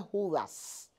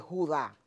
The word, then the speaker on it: Judá: Pero el nombre no es Judas, es Judá con con el con el acento en la A.